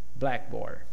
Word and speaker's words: blackboard: For compounds, the first syllable is stressed. Blackboard.